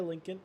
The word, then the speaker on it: Lincoln: yeah you were right Lincoln like the car Lincoln why is this lmp2